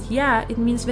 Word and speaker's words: や: It means and it is pronounced as ya.